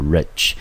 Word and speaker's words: rich: 那特别注意到它是一个形容词，中文翻成富有的，当作名词是有钱人。但是不要忘记了，这边的 ea 我们发成长音念成 reach，这个 i 念成短音念成 e，要念成 rich。